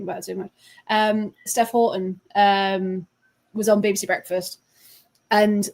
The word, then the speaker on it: Houghton: Because you said it was Houghton," and she went, "Well, no, it's Houghton. I say it in the book. It's a northern thing, but it's definitely Houghton."